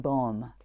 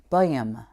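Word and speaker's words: Böhme: I've called him Bohm. It's a German last name that I think is correctly pronounced Boehm. Bohm, Jacob Bohm, Jacob Boehm. That's as good as I can get, sorry.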